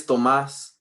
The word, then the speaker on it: Thomas: What she said, Thomas, how do you pronounce it? It's Tomas. Thomas.